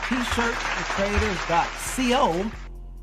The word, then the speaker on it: T-shirts for traders.co: of your replays and you weren't pronouncing the S. And we don't want people to think that it's a T-shirt So if you hear me elongating the S's, it's because I've already been corrected on that. So if I'm spitting in the microphone, just know it's because I'm pronouncing those S's.